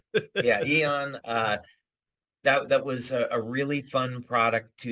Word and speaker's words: Aeon: So Aeon Oh, had, Eon. yeah, It's spelled a little different. yeah, Aeon.